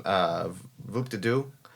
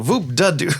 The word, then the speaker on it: Voop de Doo: No, Voop de Doo, Voop de Doo. Not Voop de Doo, Voop de Doo.